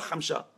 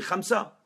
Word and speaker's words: Khamsa: Ça n'existe pas, Khamsha. On dit Khamsa. Oui ou non? Mais pourquoi? Parce que le se n'existe pas.